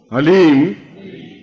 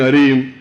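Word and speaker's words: ह्लीं: वो बोलिए ओम हलीम बस शब्द बहुत ध्यान से उच्चारण करने जाना एच ए एल ई ई एम हलीम कोई बोले हरीम कोई बोले ही तो कुछ फायदा नहीं होगा ह ली म हलीम ह आधा है ओम अभी बोलना ओम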